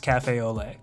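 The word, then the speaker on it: café au lait: And before someone from Nola corrects you, cafe au lait is pronounced cafe au lait.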